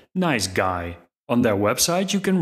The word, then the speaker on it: NiceGUI: called nice GUI and I hear the creators pronounce it like nice guy on their website you